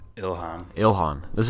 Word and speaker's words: Ilhan: Ilhan.